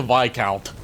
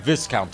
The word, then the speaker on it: Viscount: Anyway, we have to rescue the VIC count. And yes, that is how you pronounce it. It's not viscount.